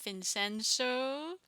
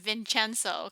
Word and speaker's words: Vincenzo: I hope you enjoyed our reaction to episode 3 and 4 of Vincenzo.